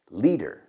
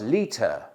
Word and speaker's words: liter: Liter. Ahora, cuidado, porque los americanos a veces nuestra T es más parecido a una D. I need a liter of beer. Liter. Los británicos lo dirían más liter.